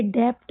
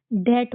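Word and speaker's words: debt: जैसे कि ये डेप्ट नहीं होता है। इसको हम डेट पढ़ते हैं। क्या पढ़ते हैं? डेट।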